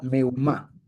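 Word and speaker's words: מהומה: Meumá, así se pronuncia. Meumá.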